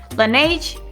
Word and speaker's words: Laneige: ¿Cómo se pronuncia este nombre? No, solo lo sabe Dios. It's Laneige.